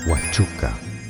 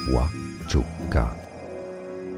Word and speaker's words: Huachuca: Huachuca Huachuca To pronounce better, Wa-chu-ca. Wa-chu-ca.